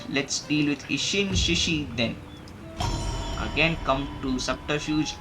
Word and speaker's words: Ishin Shishi: agent you get is the ishin shishi not isin shinshi okay Mr smart donkey says it as isin shinshi don't blame him for the pronunciation that's uh that's their interest but it's isin shishi okay isin shishi not isin shinshi people make that mistake not not for serious